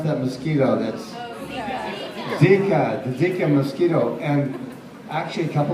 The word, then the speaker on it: Zika: We were all running around trying to avoid the, what is it, the little ziti? How do you pronounce that mosquito? That's Zika, the Zika mosquito.